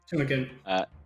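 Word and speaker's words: Tumeken: Is that how you pronounce it, Arcane? Tumenken? Cool, awesome. Tumenken.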